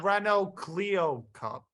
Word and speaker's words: Renault Clio Cup: where they drive and stock cars supplies the Renault Clio Cup right yeah yeah that's how you pronounce it yeah it's funny small cars very